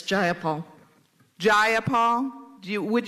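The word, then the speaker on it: Jayapal: takeover it was just jaul if you're going to say my name please say it right it's jaia Paul jaia Paul do you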